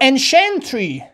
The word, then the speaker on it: ancientry: یا ancientry، عهد کهن، وسایلی مثلا قدیمی، وسایلی که از گذشته ها به ما ماندن. Ancientry، شنتری، شنتری، انشنتری، انشنتری. پس C-I-E-N-T تلفظ شنت.